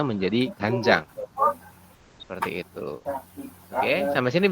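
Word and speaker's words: 간장: mengejanya berarti menjadi panjang ya Saya ulangi untuk membacanya menjadi ganjang seperti itu Oke sampai sini bisa dipahami teman-teman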